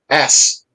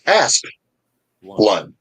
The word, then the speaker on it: Asplund: Most people don't understand that the first syllable of the last name ends on the letter P, Yes. and think that it ends on the the S. So they'll always say Asplund, but it's Asplund.